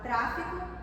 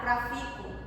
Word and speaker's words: tráfico: De vez de falar a palavra tráfico, pode falar trafico, ou se não a